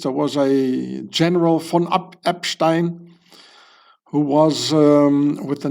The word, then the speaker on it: Epstein: So it's not Epstein, it's Epstein.